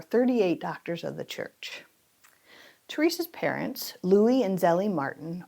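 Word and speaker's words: Thérèse: The correct way of pronouncing our next saint is Saint Therese of Lisieux. However, I had a childhood friend who was named after Saint Therese, but I knew her as Therese, so I'm going to use the pronunciation Therese.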